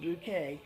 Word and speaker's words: Bucket: Bouquet, but it's spelled Bucket, B-U-C-K-E-T, and she pronounces Mrs. Bouquet.